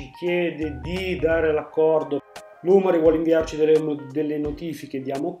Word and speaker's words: Lumary: L'app è proprietaria, quindi scarica l' app Lumari, che si scrive con la Y alla fine.